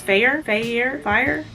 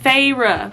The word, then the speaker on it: Feyre: say this name, but I think it's Fire. Hold on, I like saying things correctly. Feyre. I remember now.